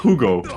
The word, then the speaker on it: Hugo: It's Hugo. Hugo. I just love the way you pronounce it. It's Mexican, so the H is more of a U.